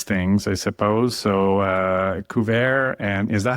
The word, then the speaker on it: Kuva: So, uh, Cou and is that how you pronounce the name of the company? Yes. Cou.